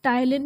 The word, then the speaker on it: ptyalin: Amylase, और इसको हम टाइलिन भी प्रोनाउंस करते हैं। स्पेलिंग इसकी PTYALIN है, पी से स्टार्ट हो रहा है, बट we pronounce it एज टाइलिन।